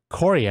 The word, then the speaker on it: chorea: And to remember chorea and it being related to this ballismus, think of Chorea as the country and how it kind of like spells when you pronounce it. Chorea, as in North Korea, and the president launching a ballistic missile test.